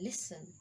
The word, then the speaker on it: listen: Fasten, T is silent. Listen, often.